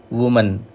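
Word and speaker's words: women: वुमन औरत महिला, विमिन, इसका प्रोनाउंसिएशन है विमिन प्लूरल का।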